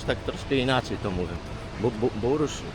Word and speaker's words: Burj: Bursz, bursz, nie burcz, nie dż, tylko bardziej takie żarnik, ja pierdzielę.